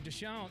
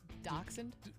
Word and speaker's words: dachshund: Kansas couple paint stripes on dash I'm sorry Deshawn how do you say it dachshund yeah I always throw a wiener dog so